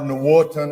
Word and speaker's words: Nwotan: My last name, Nwotan is how you say it in Cherokee.